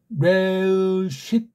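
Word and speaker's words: ראשית: 그러니까 레쉿 하고 이걸 받침으로 못 넣어요.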